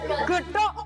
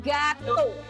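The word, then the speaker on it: gâteau: Ini bacanya getuk bukan ya? Itu Prancis bahasa Jawa. Kalau getuk itu bacanya gatuk. Iya gatuk.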